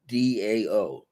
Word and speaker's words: Dao: way of The Da the Chinese pronounce the t's as a d The Way of the da Dao is the way to